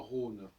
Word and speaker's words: Rhône: dans Rhin et dans Rhône. Ça ne gêne pas, on écrit Rhin, R-H-I-N, Rhône, R-H-O-N-E, ça ne change pas notre prononciation, ce qui est un